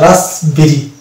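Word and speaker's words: raspberry: তারপরে এটা হচ্ছে রাসবেরি, এখানে পি কিন্তু সাইলেন্ট পাচ্ছে, অর্থাৎ পিবি পাশাপাশি পেলে আমরা সাইলেন্ট পাচ্ছি।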